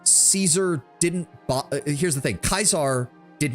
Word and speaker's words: Caesar: pronunciation of Kaisar is Caesar because that's how it's usually taught. But in traditional Latin, it is Kaisar because the soft C sound does not exist in traditional Latin.